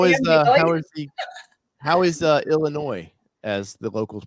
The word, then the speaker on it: Illinois: Laura, how is Illinois, as the locals pronounce it?